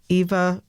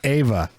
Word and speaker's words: Eva: about green acres and whether it was eva or ava ava or john and it was ava it was ava and